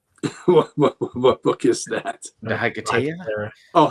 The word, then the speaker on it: Hiketeia: Chris says, love the book, can't pronounce it. What book is that? The Hiketeia? Oh, Hiketeia.